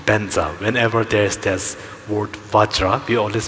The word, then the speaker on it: Vajra: the pronunciation correctly, then definitely Vajra is Vajra. Vajra should not be pronounced as Benza, but keeping these other